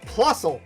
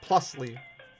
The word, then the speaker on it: Plusle: Plusle. I'm always going to pronounce it correctly now. I'm not going to call it Plusly.